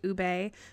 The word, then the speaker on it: ube: I was pretty sure it was pronounced ube because ube was just a little too weird, but I was right, and it is pronounced ube, and it's still a weird word.